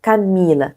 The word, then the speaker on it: Camila: Donc, on va prononcer Camila.